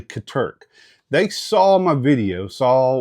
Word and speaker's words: Katerk: Uh, last video I actually mentioned that Katurk, I actually said their name wrong in the last video. If you if you see it, uh, I said, it's actually Katurk.